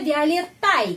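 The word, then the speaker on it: Виолеттой: Violeta jadi violetoi. Tapi ucapannya violetai. Kenapa? Karena violete pengucapannya pada huruf Y.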